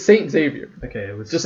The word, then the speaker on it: Xavier: It's not Xavier. That's not how you pronounce if you're Xavier. Rich, if you're no, rich, that's not. it's No, that's literally. Where's the E? Xavier. There's an E in the end. It's the At the second end, last yeah. letter. At the beginning, though, where's the E? It's X-A-V. Yeah, so Xavier. you actually say Xavier. Okay. You pronounce the X.